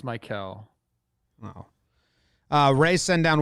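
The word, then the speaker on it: Maikel: mlb is it franco isn't his name like the the one that you pronounce normal i know it's mike michael franco michael i think it is no it's mikel wow uh rey sent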